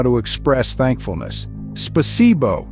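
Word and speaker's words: Спасибо: Spasibo is the Russian word for thank you, pronounced as spasibo.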